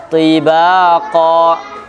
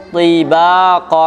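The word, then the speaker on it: طباقا: Tibaqa. Tetap tebal kan? Kalau orang bacanya tarkik jadi salah. Tibaqa. Tibaqa masih tebal.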